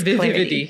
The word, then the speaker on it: vividity: For those of you who don't know what vividity means, it's vividity. Clarity. You have to give it an extra syllable.